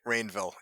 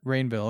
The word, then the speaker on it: Rainville: Rainville. Yep. Rainville. Okay, just like it's spelled, I guess. Yeah, just like the village.